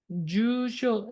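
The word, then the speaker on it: 住所: 세미나니 상가 시다이 히토와 참가하고 싶은 사람은 뭐뭐뭐에 나니나니니 주쇼 심의 기보비요 가입대 그다사이 라고 돼 있죠. 자, 어디에 써야 될까요? 주쇼는 일본 발음으로 길게 발음, 짧게 발음인 거 아시죠? 짧게 발음하셔야 됩니다.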